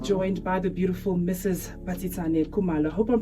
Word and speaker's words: Basetsana Kumalo: Basetsana Kumalo. I hope I'm pronouncing your name right, by the way.